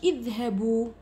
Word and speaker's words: اذهبوا: كل افعال الامر نكتبوا لها الالف لكن ما ننطقوهاش، اذهبوا، مفهوم؟ اذا فعل الامر كذلك نكتب المد رسما وما ننطقوش.